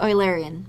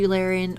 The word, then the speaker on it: Eulerian: next let us consider the oil Arian or the Eulerian or whatever your preferred pronunciation is so the Eulerian